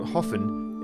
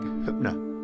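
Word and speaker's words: Höfn: of the largest towns in the southeast spelled hoffen it's actually pronounced something more like Kutner I wanted a full day here to explore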